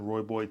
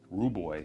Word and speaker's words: Rooibos: And I think one of them was African Rooibos and Rooibos, I think that's how you say it.